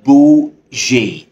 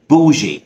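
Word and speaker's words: bougie: كلمه معانا النهارده هي بوجي ايوه بتتنطق كده بوجي ومعناها فخم كده او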